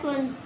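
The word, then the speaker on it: son: जैसे एस सोन अब इसको हम सोन नहीं पढ़ते हैं। सोन सोन पढ़ा है कभी?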